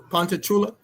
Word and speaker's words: Ponchatoula: Pontachula, right? That's how you pronounce.